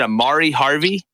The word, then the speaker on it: Amari Harvey: And tell me if I'm saying it wrong. Is it Amari Harvey? Yeah, that's correct.